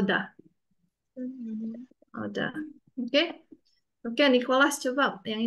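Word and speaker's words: 오다: oh, dah. Jangan salah ya, jangan ta, jangan ada th-nya, pakai d. Oh, dah. Oh, dah.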